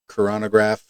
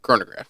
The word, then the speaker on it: chronograph: into ones with um coronagraph is that how you pronounce it chronograph chronograph yep and you get into